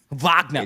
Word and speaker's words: Wagner: gamewinner there in a comeback vagna oh yeah V vagna pronounce it correctly no don't don't don't